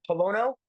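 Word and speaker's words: Pollono: I can see here from, is it John Polono?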